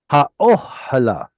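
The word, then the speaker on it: האהלה: There are some people who think that reduced vowels should get their own syllable. And they would divide the syllables like this. Ha, o, he, La. la. It's a schwa, as it's a reduced vowel.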